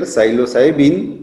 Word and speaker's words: psilocybin: And Psilocybe mexicana is a mushroom whose principle is psilocybin. Silo, P is silent here, psilocybin is a tryptaminergic compound.